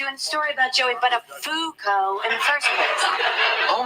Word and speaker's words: Buttafuoco: Matthew, I think you mispronounced that guy's name a few times. What? It's Joey Buttafuoco. No, it isn't, Matthew. It's Buttafuoco.